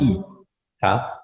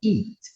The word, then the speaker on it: it: Todas as palavras que se apresentem com i em inglês, tu não vai pronunciar com i, tá? Tu vai pronunciar com e, tá? Exemplo, isto, né? A gente fala isto, it, e não eat.